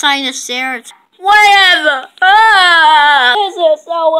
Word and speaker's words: Sinoceratops: It's pronounced Sinoceratops.